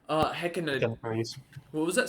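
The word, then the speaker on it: Hecatoncheires: into the ring with two, and someone please pronounce it because I never get this right. Hekana. Hecatoncurries. What was that? Say that again? Hecatoncurries.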